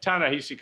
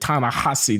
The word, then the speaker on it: Ta-Nehisi: I think he pronounces it Ta-Nehisi, notwithstanding the H-I-S-I.